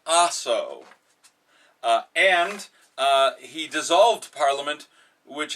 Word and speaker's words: Aso: power, Japanese Prime Minister Asshole buried the lower house of Parliament in lime... Oh. Yes, okay. I see. Right. Last warning. Okay. The Prime Minister's name is pronounced Aso, and he dissolved Parliament,